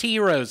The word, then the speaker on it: gyro: Erica likes to call them gyros. Erica, it's heroes, isn't it?